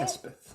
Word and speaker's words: Elspeth: Elspeth, is that how you say it? Elspeth. Elspeth. Yes, Elspeth. Elspeth. Elspeth. It's like Elizabeth, but shorter, yeah.